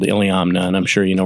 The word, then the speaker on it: Iliamna: Iliamna. My dad used to call it Iliamomnia because that's the way it's spelled.